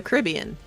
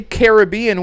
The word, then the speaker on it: Caribbean: There's a difference. It's like Corinthian.